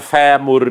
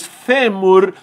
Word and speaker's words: fêmur: com a palavra fêmur qual é a sílaba tônica é a penúltima qual é a pronúncia do iff fechada não é favor apesar de agora com a nova ortografia pode se falar fémur também de acordo com